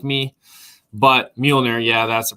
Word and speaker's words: Mueller: Mueller. Mueller.